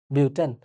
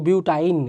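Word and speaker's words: butane: সো এভাবেই কিন্তু pronounce হয় বিউটেন। নাহলে তো এমন হয়ে যেত বিউটাইন, এরকম টাইপের কিছুটা হয়ে গেল।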